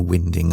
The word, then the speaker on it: winding: boat around in a winding hole. Winding, incidentally, is pronounced as in north wind, not as in winding a watch.